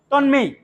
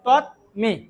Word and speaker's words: তন্মে: আবার এই যে তন্মে যদি আপনারা যদি একসাথে উচ্চারণ করেন তাহলে কি হবে, তন্মেই। আর যদি আলাদা করে ভেঙে উচ্চারণ করেন তাহলে তৎমে।